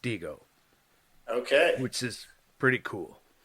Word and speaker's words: Dihigo: apparently it's pronounced Dihigo, Okay.